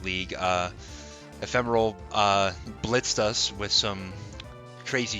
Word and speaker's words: Ephemeral: Also, my name is pronounced ephemeral. It's also a word, like an English word.